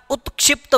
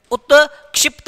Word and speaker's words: उत्क्षिप्त: उत्क्षिप्त व्यंजन क्या वापस बोलना मेरे साथ में एक बार उत्क्षिप्त व्यंजन उत्क्षिप्त व्यंजन ध्यान रखना त आधा आता है छोटी ई की मात्रा आता है उत्क्षिप्त व्यंजन बोलते हैं जिसको